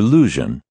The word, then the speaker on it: Luzhin: chess defense supposedly invented by my creature grandmaster lujan the name rhymes with illusion if pronounced thickly enough to deepen